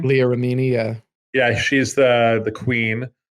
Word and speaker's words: Remini: Leah Remini, I think that's how you pronounce her last name. Leah Remini.